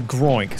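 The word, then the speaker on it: Groink: name wrong last time I called it a gloink it's a groin sorry um I don't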